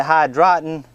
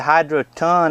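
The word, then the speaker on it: Hydroton: me some of this I was calling it hide rotten it's actually a Hydra ton i think the way to pronounce it just call it little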